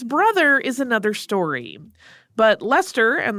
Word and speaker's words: Leicester: is another story but Lester and that is spelled the same way that the city in England is spelled but it is pronounced Lester similarly much younger than